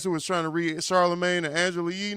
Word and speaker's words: Charlemagne: Silent letters. Yeah. This nigga don't know how to say Charlemagne. Charlemagne. Silent letters was fucking his ass up. Charlemagne.